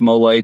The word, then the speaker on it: mole: Um mole mole pronounced mole tastes like chocolate gravy for chicken.